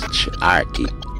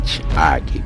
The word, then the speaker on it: Charqui: And the CH with the, he called it a hyphen, I say apostrophe, is not pronounced ch as in Charqui, but a TS.